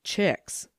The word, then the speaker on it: Cheheelywicks: My aunt's Lady Cheheelywicks, but the family name is Lorne, and you pronounce my aunt's name Chicks."